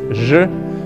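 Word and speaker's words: ж: in the russian alphabet it's pronounced as je and it is the first word in such words as woman jaina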